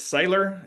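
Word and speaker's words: Seiler: I don't know if I'm saying it right, but it's Sailor.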